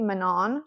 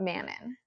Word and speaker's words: Manon: like I know like it's a French name well at least like